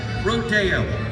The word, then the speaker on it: rodeo: The name of our sport, rodeo, pronounced in Spanish, rodeo, meaning the roundup.